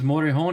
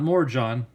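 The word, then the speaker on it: Morejón: the Padres Adrian motor a horn it is motor hone it's not more John if you guys want to pronounce it correctly it's it's actually Audrey on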